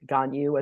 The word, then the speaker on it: Gagnon: from Minnesota too so having a somewhat Frenchy last name it's even more mangled in the midwest I think that's how we ended up with gonyu as opposed to a somewhere explicable pronunciation of my name so I'm very glad